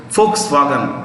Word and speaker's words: Volkswagen: Volks, the V is pronounced with an F, it's German. Volkswagen, wagon is car, Volks means people, people's car is Volkswagen, right?